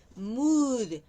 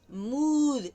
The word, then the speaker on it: mood: Cuidado con mo que se puede confundir la la pronunciación. Moon, mood, mo mood. Y mom también está ahí. Mon moon, mood.